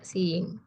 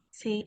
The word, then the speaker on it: seeing: Jangan dipisah, Seeing. tapi digabung. Oh, Seeing. disatuin. Ya, I'm seeing. ya. I'm seeing. I'm seeing. Bukan sing.